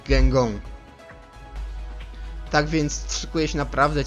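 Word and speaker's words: Guingamp: I wtedy dowiedziałem się, jak czyta się tą po prostu ich nazwę, Gengong.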